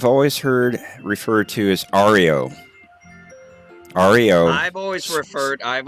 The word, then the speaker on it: REO: Christmas Jeff hi Jeff the band spelled it out speaking each letter hello so to the band it is Ario speed wagon to the car motor company that it was based off of it's Rio so I'm right